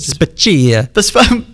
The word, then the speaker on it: Spaccia: Then they saw the salary of Rizzo's assistant city manager, Angela Spaccia, or Spacchia. I would overpronounce it. Spacchia. That's it, yeah.